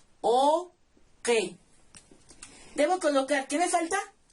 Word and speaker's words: uki: Se escribe uki, así, pero se pronuncia oque.